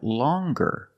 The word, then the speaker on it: longer: But then you have longer, where we have the hard g sound. Longer. With a nasal sound, plus the hard g, longer.